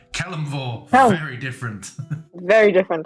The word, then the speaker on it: Kelemvor: Sorry, I butcher these names. Celevor? No, Helm. Kelemvor.